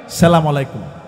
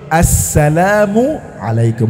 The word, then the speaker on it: আসসালামু আলাইকুম: সালামের উচ্চারণটা আমরা জানি না। সালামু আলাইকুম। আসসালামু আলাইকুম। আছে না নাই? বলেন না? শব্দটা হবে আসসালামু আলাইকুম। বলেন আসসালামু আলাইকুম।